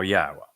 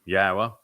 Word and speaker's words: Yahowah: W again uh and the W is pronounced as an o sound as it is in Torah as it is in shalom and since the Torah is where we're reading these narratives from yahwah he explained in the